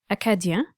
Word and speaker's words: Acadiens: Acadiens, which is the French pronunciation, were descendants from French settlers in the Maritimes and northern Maine.